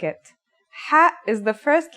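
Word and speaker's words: ح: According to phonetic charts, Ha is pronounced in a deeper part of the throat than Kha.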